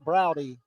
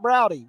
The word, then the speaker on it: Browdy: Half the people say Browd, half of them say Browdy, including the announcer for the Cal Bears. He doesn't use the E, he says Browd. But in talking to Dominic, he calls it Browdy. So we feel confident we are saying it correctly.